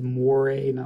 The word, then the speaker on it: mores: folkways and mores and that word is more a more more a two syllables but mores are basically